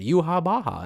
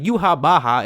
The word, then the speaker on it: Yhwach: being the pronunciation because that's the exact same pronunciation you would hear if you watched the subtitled version you know it's the